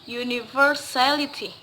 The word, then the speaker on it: universality: I repeat again, the stress is usually put on the third syllables to the last one. For example, last time I have said pregnancy, and now I will give example again about universality.